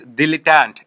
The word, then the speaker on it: dilettante: dill can't its delay can't how will you pronounce this word its dilettante bill let dant fine di l ET t